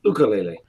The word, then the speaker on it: ukulele: you Bailey ocarina Bailey it's it's pronounced ukulele ukulele sorry like my ocarina common